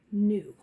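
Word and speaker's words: knew: and just says mmm so that means the K is silent we don't hear it next is number and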